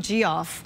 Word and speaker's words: Jeff: She's been calling him G-Off. G-Off? I know. Well, that's how you pronounce it in Spanish, isn't it? Yes, it is.